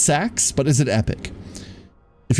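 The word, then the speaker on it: seax: It's pronounced sax, but is it epic?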